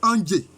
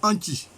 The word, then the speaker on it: Andjé: Et puis, dans les Broussa, l'un des sites anciens qu'ils vont créer, c'est Andjé. Andjé. Bon, mais administrativement, quand on prononce, on dit Anchi. Voilà, c'est Andjé.